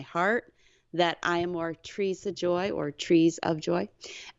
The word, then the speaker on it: Treesa: But it also felt like it was total of the 3 syllables, not Teresa Joy, it was Treesa Joy. And so I just took the Teresa and flipped the R and the E to Treesa Joy, Treesa Joy, Treesa Joy.